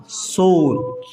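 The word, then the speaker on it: shore: तो यहाँ पर एस एच ओ का होता है सो, ऐसे सो, और आर ई का रे नहीं है, ये यहाँ पर अ उच्चारण है, ठीक है, र, शोर, ठीक है।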